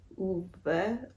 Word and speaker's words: Ove: A Man Called o is that how you pronounce this title okay I Googled it it's a man called UA excuse my Swedish I